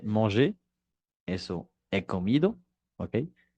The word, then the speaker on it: mangé: Es decir, que para los verbos del primer grupo, la pronunciación entre su infinitivo y su participio pasado no cambia para nada. J'ai mangé, eso he comido, ¿ok?